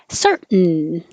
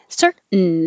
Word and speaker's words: certain: This is a syllabic N. So the N becomes a syllable all by itself. So he makes the N noise. So your tongue goes up for the T, certain. And then you have to make the N to make a second syllable, certain.